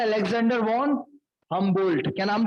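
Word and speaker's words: Humboldt: तो ये इनका नाम था अलेक्जेंडर वॉन हमबोल्ट। क्या नाम था? Alexander von हमबोल्ट। हम बोल्ट, डी साइलेंट है इसमें, डी साइलेंट है, बोल्ट।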